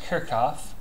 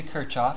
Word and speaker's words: Kirchhoff: when we're talking about kirkoff laws and it's pronounced kirkoff people say kirchof that's fine um people onize all kinds of